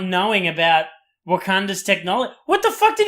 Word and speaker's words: Wakanda: Is that how I pronounced it? Yeah, it's Wakanda.